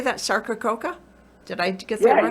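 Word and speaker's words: Sarcococca: box sarkacoka so how do you say that sarkacoka did i get that yeah you said it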